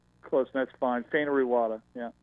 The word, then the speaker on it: Fainaru-Wada: Am I getting that pronunciation right? Close, that's fine. Fainaru-Wada, yeah. Fainaru-Wada. Fainaru-Wada, all right.